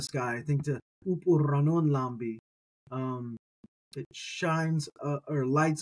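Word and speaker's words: λαμπ: you look at it Lambda off of M it looks like the English word in transliteration lamp and so that's your pneumonic device for this but remember the pronunciation is really lamb all right uh we're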